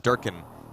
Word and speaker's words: DRKN: But yeah, I've stuck in with Durkin as a pronunciation for this team, Durkin.